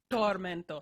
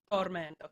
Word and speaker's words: tormento: of air behind them so in italian there's none of that okay so um but tormento so like you're pronouncing a d dormanto tormento can you just pronounce